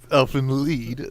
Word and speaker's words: Elfen Lied: Oh, Elfen come on, Lied. say it right. Elfen Lied. No, he No, said it right the first It's time. Elfen Lied.